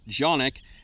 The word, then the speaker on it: Canik: a straight answer from Kanak or Sonic as they pronounce it in Turkey these are Turkish imported